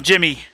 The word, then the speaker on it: Djimmi: Let's take on Djimmi. I'm assuming the D is silent.